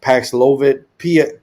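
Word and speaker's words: Paxlovid: this Mission it's I don't know how to pronounce it paxilovit p-a-x-l-o-v-i-d um so it's given for uh HIV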